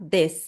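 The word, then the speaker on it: です: Esse u no final, a vogal u no final, você pode até cortar na hora de pronunciar para soar mais natural, tá?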